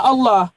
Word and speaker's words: Allah: Makanya kan kita menulisnya L-nya doble artinya tebal dalam bahasa Arab tebal L-nya dobel all.